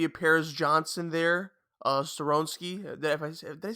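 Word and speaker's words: Skoronski: you know maybe a Paris Johnson there uh soronski that if they say his name right skoronsky there you go so I feel like he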